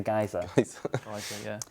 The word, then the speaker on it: geyser: somebody said the word geezer oh is that okay is that how you pronounce these things where Jeff the water goes up in the air that's a geyser and the geezers in the chair someone did actually send